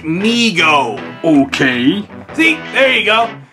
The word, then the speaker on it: Mego: some more mio figures ah come on more Meg oh I hate to be this guy but it's pronounced me oh okay see there you go anyway like I